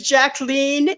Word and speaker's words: Jacqueline: said my name is jacleen it rhymes with Queen okay there you go